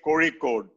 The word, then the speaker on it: Kozhikode: ये क्या अंग्रेजों वाली pronunciation है? Please learn how to say Kozhikode.